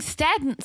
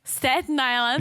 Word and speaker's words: Staten Island: that in someone's closet oh you're saying staddened Staten Island I was saying long no I'm saying it correctly Staten Island yeah that's what I